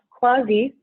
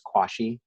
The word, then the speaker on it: CUAHSI: nasty looking acronym um a lot of people mispronounce as kwashi which is why i have this phonetic spelling right next to it so uh think of like quasi this is going to